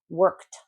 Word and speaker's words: worked: These are words when the ED sounds like a T, but again, if you pronounce it like a D, it's fine at the first step of pronunciation, but you should not be pronouncing it as ed.